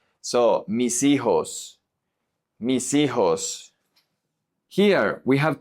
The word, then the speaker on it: hijos: Here, mis, the S the H is silent, so the S is going to connect to the I. Remember that the H in Spanish is always silent. So, mis hijos.